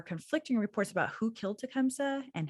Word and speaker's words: Tecumseh: this whole thing saying Tecumseh and then Nancy says to come see so this rhyme made me realize the proper pronunciation if it was correct back in the 1800s must truly have been Tecumseh and so every time